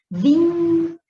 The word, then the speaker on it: vínculo: E quando você chama as palavras no tróloga, você vai demorar mais aqui na antepenúltima sílaba, vínculo, vai demorar mais no vim, periódico, viu?